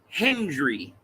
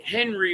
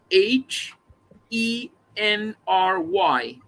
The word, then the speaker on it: Henry: tommy henry hill right he was calling him hendry right like would it like h-e-n-d-r-y like hendry and i had no idea like i never heard someone like henry or hendry right i met my